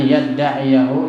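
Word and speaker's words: يَدَّعِيَهُ: Pasti bacanya an yada'ahu. An yada'ahu, enggak ada ya-nya. Tapi di sini yadda'iyahu. Karena ada ya di antara ain dan ha.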